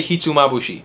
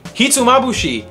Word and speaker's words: hitsumabushi: on our list hitsumabushi this is a dish that took me about a week to learn how to properly say I couldn't pronounce it I would say Hudson hits a mabashi kiss on my boot he to me I couldn't say he to mabushii hitsumabushi is a Nguyen dish a classic